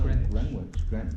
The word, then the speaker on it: Greenwich: But it's pronounced Greenwich.